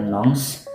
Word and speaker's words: Nantes: Gue tinggalnya di kota Nantes, ya tulisannya kayak gitu tuh, Nantes bacanya Nantes.